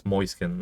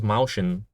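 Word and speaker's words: Mäuschen: In German language, it's Moiskin. I think Herman can uh can confirm. I had another guy from Austria tell me how to pronounce the tier 9 uh before the mouse heavy moiskin. I thought it was mousin before but no I'm pretty sure there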